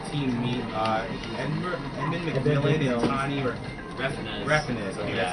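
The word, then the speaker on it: Tommy Refenes: that call themselves Team Meat, Edmund McMillan and Tani Reffinez. Okay, that's how you pronounce it.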